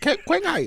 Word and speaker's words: Qinghai: You got to pronounce it Qinghai.